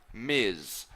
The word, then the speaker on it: Ms: we've MS which we pronounce Miz okay it's pronounced like em I said Miz and that's if you are unsure if you